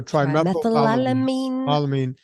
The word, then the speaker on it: trimethylamine: first word but it's trimethylene you know i'll spell it for you it's t-r-i-m-e-t-h so trimethylalamine so trimethylamine oxide so tmao is for sure and nina